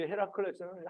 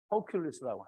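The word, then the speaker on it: Hercules: 근데 이제 헤라클레스는 한국식 발음이고요. 허큘리스라고 해요.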